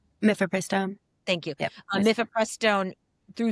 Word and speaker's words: mifepristone: Did I pronounce that correctly? Mifepristone.